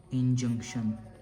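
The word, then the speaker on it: injunction: तो जो हमारा फर्स्ट वर्ड है गाइस वो है इंजंक्शन। मैं आप लोगों के लिए इसकी स्पेलिंग प्रोनाउंस कर देता हूं।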